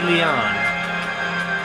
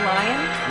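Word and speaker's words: Lyon: Vicky, Wendy Leon. I think that's pronounced Lion. Lion Leon. I'm pretty sure that's Lion.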